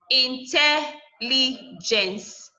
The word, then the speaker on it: intelligence: Intelligence. Gens, last syllable, li, second to the last syllable, tel, third to the last syllable.